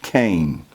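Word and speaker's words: chen: the hebrew word cain c-h-e-n but pronounced cain and this word means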